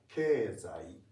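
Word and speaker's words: 経済: Even though it's written keizai, keizai, it's pronounced keizai. Let me try. Keizai. Very good. Okay. This should become ke, zai, but this is I. It remains I. Because it's not after I. Okay. Be careful with that. So any EI sounds, it's pronounced as E sound.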